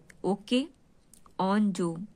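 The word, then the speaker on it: Okonjo: Ozone क्या है, देखिए ओके याद रखिएगा, ओके ऑन जो, ठीक है, ओके ऑन जो, ठीक, ऐसे याद रखिएगा। एक तो इतना हो गया, ओके ऑन जो।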